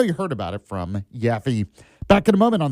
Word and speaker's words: Yaffee: Yaffee or Instagram at Yaffee Live. And no, it's not spelled with a J. It's a Y, Y-A-F-F-E-E.